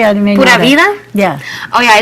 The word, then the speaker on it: Pura vida: Now, you used the term purida.